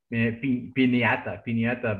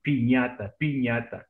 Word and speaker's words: piñata: Like Laurel was talking last week about these ones, but some people say in English, piñata, but pronunciation, piñata.